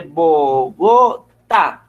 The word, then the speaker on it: Bogotá: Usted no dice Bogotá o usted no dice Bogotá. ¿Sí? Se dice Bogotá. ¿Sí ve que el último, digamos que la acentuación más grande la tiene en la última sílaba? ¿Sí? Se dice Bogotá. ¿Listo? Se nombra un poco más fuerte esa sílaba. Profe, Señor.